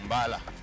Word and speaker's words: Mbala: Yes, it is the correct pronunciation, taken from the old name. It was called Abekon. From that time now, it was changed to Mbala. That's the correct the pronunciation of the word.